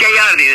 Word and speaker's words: Gagliardi: It's Gagliardi. The second G is silent. So it's a true Italian name there.